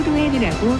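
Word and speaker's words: Lohan: 다른 경우가 종종 있는데 린즈는 아예 미국 태생이고 스스로 로헨이라고 발음했으면 로헨이 맞다. 어원이 아일랜드라고 본인은 미국인이기 때문 비슷한 예로 스칼렛 조앤슨이 있다. 최근 인터뷰를 봐도 인터뷰어나 본인도 다 로헨에 가깝게 발음하고 있다.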